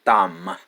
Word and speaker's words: thumb: ទ ី 11 a thumb a thumb B is there's no sound B is silent you only read T-A-U-M a thumb B is silent okay ម េ ដ ៃ